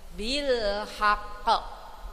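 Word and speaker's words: بالحق: ayat ya Bu ya Nah haqqo qofnya huruf Qalqalah ya Bu ya karena ada tasdid maka pantulan kita harus lebih kuat ya Bu ya bilhaqq bilhaqq Coba 1 2 3 bilhaqq seperti itu bu ya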